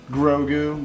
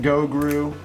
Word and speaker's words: Grogu: Or Grogu. Grogu. Go-Gru. I always say it wrong.